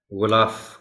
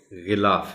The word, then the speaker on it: غلاف: کے ساتھ زبر ہے۔ غلاف کو اکثر و بیشتر غلط بولا پڑھا جاتا ہے، غلاف کہہ دیا جاتا ہے عام طور پر، لیکن یہ غلاف ہے۔ ختم، یہ پھر انہی